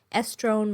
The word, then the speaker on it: estrone: case it helps you estrone rhymes with crohn so estradiol estriol and